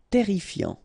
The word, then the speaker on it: terrifiant: Final T not pronounced. Double R here, so it will open the pronunciation of your E, and then it will be E. Terrifiant.